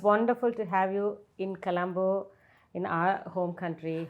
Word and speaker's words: Colombo: It's wonderful to have you in Colombo, in our home country. How is that pronounced? Colombo, is it? Colombo. Not Colombo. கொழும்பு தமிழ்ல கொழும்பு. Colombo is in English.